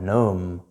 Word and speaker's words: gnome: Your g is silent here. N for gnome.